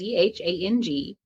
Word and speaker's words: Zhang: I just finished a really wonderful book called The Land of Milk and Honey by Pam Zhang, and I may have butchered her name a little bit, but it's Zhang.